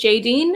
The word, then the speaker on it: Jadene: where you're from so my name is Jayden and you can see it yep this is my name the e at the end is silent I am 25 years